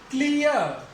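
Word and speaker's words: clear: अभी हमने लिखा था वर्ड क्लियर, क्लियर, ए पे ही रुक जाएगा वो वर्ड, आर का उच्चारण नहीं होगा।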